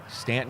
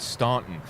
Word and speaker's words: Staunton: Stanton is one of those cities where you know who's not local when they pronounce it Staunton.